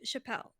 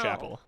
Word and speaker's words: Chappell: Okay, I say Chappelle. That's how I say her name. I think it's Chapel, or at least most Yeah, people I say know. Chapel. I know it's Chapel, but I can't not say Chappelle.